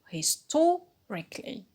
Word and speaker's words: historically: However, equal is a stress shifting suffix which is composed of two syllables, and the stress should fall on the syllable just before equal. So we put the stress on to, historically.